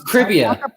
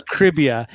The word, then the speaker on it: Cribia: It's Cribia. Dude. Okay, like it rhymes with trivia, and it's Cribia because the trivia comes from your...